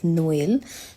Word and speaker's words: Noël: The main function is to help pronounce 2 adjacent vowels separately rather than blending them into one. So there are 2 examples. The first one is Noël, which means Christmas in